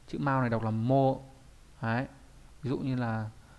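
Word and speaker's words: 毛: Chữ mao này đọc là mô. Đấy. Ví dụ như là gì nhỉ? Trong từ Akami no ke này. Đọc là ke hoặc là mô nhá.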